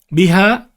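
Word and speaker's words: بِهَا: And then we have biha, bihima, bihinna.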